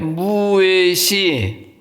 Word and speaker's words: 무외시: 어 무외시 할 때 그 외는 입을 입모양을 동그랗게 하고 그냥 내뱉으면 돼요 같이요 으 왜 왜 이제 왜는 그 오므렸던 입을 확 벌리면 돼요 왜 왜 왜 왜